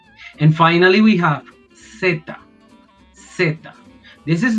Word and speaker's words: zeta: In Colombia, in my country, and many places in South America, people say zeta. So it is like pronounced C, but they add a T and they add another A to say zeta.